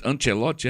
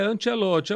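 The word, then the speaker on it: Ancelotti: É, como é que tu pronuncia aí, Ran? Ancelote. É, é Ancelote.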